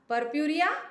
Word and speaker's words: purpurea: Purpurea is two, you are supposed to talk it the way I am talking, like purpurea. So it is purpurea and lanata. So there is a significance behind pronouncing it the way in splitting pattern, because see, as you